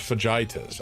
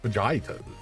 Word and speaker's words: fajitas: It's pronounced fajitas. Ah, I see. Fajitas.